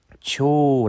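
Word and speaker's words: 鳥: 음 , 새 를 나타 내는 글자는 ' 초 ' 라고 장모음 으로 읽으면 됩니다 .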